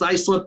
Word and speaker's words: Islip: And it's pronounced Islip, but it's spelled ISLIP.